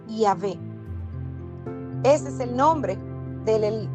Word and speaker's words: Yahvé: siglos y jud Bad muchos los traducen como jehova pero la pronunciación más acertada más cercana a lo que el nombre que son consonantes es es yahvé ese es el nombre